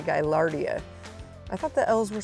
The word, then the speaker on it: Gaillardia: For some reason I was calling it Gaillardia. I don't know where I ever heard that, but it's actually Gaillardia.